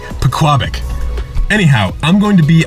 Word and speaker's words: Pequabuck: Now, I'm going to be fishing the Pequabuck River today. And, you know, I should mention, by the way, that I've always pronounced it Pequabuck, and then one of my